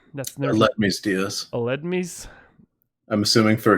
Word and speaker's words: Aledmys: Aldemus? Aledmys Diaz.